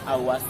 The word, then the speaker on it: Aur: Kemudian Awas punca Awas Serumpun. Aur Serumpun. Awas awas serumpun. Karena di situ ada A-nya belakang ya, Pak. Jadi kami bacanya awa.